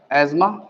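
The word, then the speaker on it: asthma: तो आप एक काम करेंगे, सबसे पहली कंडीशन है एस्मा, लिखते अस्थमा है, इसे प्रोनाउंस एस्मा ही किया जाएगा।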